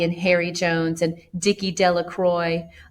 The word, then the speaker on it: Delacroix: Harry Jones and Dicky Delacroix the villagers pronounce this name Delacroix eventually made a great